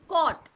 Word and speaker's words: caught: जैसे आपने ए डब्ल्यू को ओ पढ़ा था, ये ए यू भी ओ पढ़ा जाएगा. ठीक है. और उसके बाद ये जो जी और एच है ये साइलेंट रहेंगे.